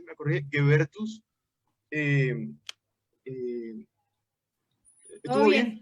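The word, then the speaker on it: Goebertus: Guebertus. ¿Todo bien? No, lo pronunciamos Gubertus, pero no importa. Me han dicho hasta Juanita Cubiertos, así que no hay, creo que tu pronunciación estuvo perfecta.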